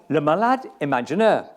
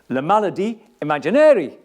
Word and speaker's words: Le Malade Imaginaire: This time, she opted for Le Malade Imaginaire, or Le Maladie Imaginaire, as Brother O'Shea would have pronounced it.